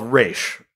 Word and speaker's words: Ra's: don't know yeah I I am convinced the pronunciation is raysh based on based on it's cooler I feel like I've read something somewhere that was like that's closer to like what an Arabic pronunciation would be I could be deeply